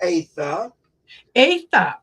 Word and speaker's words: Atha: appreciate it uh and my last name's pronounced AA a okay everybody and their mother though says AA so don't feel you were um odd everybody does so uh but I